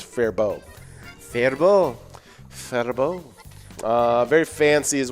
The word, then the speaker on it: Faribault: apparently it's fair bow which makes sense because it's french canadian so french the t at the end usually is silent gotcha because apparently the l is as well so it's fair bow verbal uh very fancy